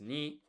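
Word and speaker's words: 二: Two is ni.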